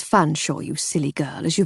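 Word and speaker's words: Featherstonhaugh: said with a curtesy I made my usual point of mispronouncing it as featherston Huff which in turn drew his usual ual raised eyebrow and slightly sad smile it's fun Shaw you silly girl as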